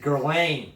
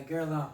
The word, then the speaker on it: Guerlain: I just said Guerlain. Yeah, Guerlain. Guerlain. It's like that thing in your throat, you know, good.